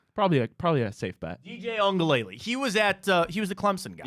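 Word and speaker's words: Uiagalelei: Your wonderful pronunciation of DJ. How do you say it? Ongalele.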